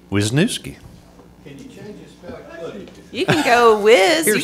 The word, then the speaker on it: Wisniewski: say it so Jennifer would would you please pronounce it Wisniewski Wisniewski you can go with you can call me